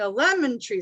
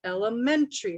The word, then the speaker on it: elementary: say hey you know instead of saying a lemon tree school this is how we say elementary school elementary school and then